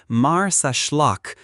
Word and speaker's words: Marsaxlokk: Welcome to Marsaxlokk Lock, pronounced Marsaxlokk, Malta's most Instagrammable village and a living postcard of Mediterranean charm.